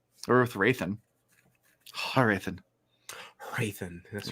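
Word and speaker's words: Hrathen: Raithan. That's Rathan. The H is silent. It's like Django.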